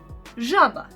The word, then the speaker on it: žaba: It is ž, ž. It can be a little bit different to pronounce, but let's try with Croatian word žaba, žaba. It means frog, and it is actually like as in pleasure, pleasure.